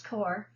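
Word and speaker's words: Corps: US Army Medical Corp and I know how to pronounce core M took the cad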